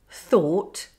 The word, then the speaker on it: though: Let's look at the words though, plough, thorough, enough, through, thought, cough. Crazy, isn't it? No wonder English spelling and pronunciation is so confusing.